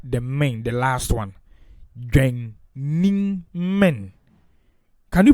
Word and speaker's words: Dwennimmen: So, using that as a guide, Dwennimmen will be pronounced as Dwennimmen, with the low tone on the Dwennim and the high tone on the men. So let's do it. Dwennimmen.